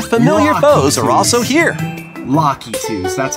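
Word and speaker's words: Lakitus: Lockitus, that's how you pronounce it.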